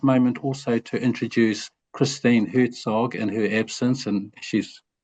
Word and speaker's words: Herzog: I heard you say Herzog, Ruth, so I'll say Herzog. I hope that's the correct pronunciation.